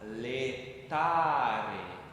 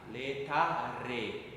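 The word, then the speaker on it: laetare: Por isso esse dito não vai ser com e, mas e. Então nós vamos falar letar, letar, viu? Bem vibrante, não aspirado.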